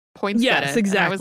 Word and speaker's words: poinsettia: it up, there are people who will still say it is perfectly acceptable to pronounce it that way. I looked it up before we started, and Merriam-Webster had poinsettia listed as the name, and then I can't remember it was like non-standard poinsettia.